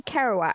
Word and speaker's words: Kerouac: For starters, I feel like someone else is going to have to pronounce Jack. I want to say Kerouac, but then there's a lot of vowels.